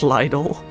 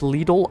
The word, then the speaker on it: Lidl: game Jigglypuff please how did you pronounce Lidle like the Lidle of course how else do you pronounce it man I know I okay Sarabi I pronounced wrong on accident Lidle I pronounced wrong on purpose okay I'm sorry it's Leal I know but I pronounce it wrong on purpose cuz it's funny bought it at the